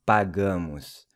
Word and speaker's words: pagamos: We pay is nós pagamos. Once again, the A is pronounced as in Cuba, and the O is pronounced like a U, so it's pagamos.